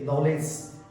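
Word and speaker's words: knowledge: बताइए आप spelling नॉलेज। KNOWLEDG नॉलेज यानी ज्ञान।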